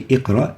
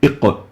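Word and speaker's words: اقرأ: We don't say iqra, we say iqra, iq, and not a simple iq, but iqra, iq, iqra. And then we look here,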